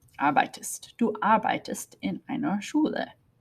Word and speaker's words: arbeitest: If we were going to make it with do, we would add an ST. Arbeits. Okay, it's hard to pronounce. So they put an E in there. Arbeitest.